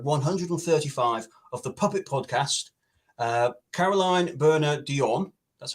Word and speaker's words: Caroline Bernier-Dionne: To celebrate episode 135 of the Puppet Podcast, Caroline Bernier-Dionne, that's how you pronounce it, and Lee Thompson have come together to offer this competition to our amazing viewers.